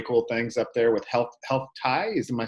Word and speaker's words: Health TIE: And they're doing some really cool things up there with Health Tie. Am I saying it right? Health Tie?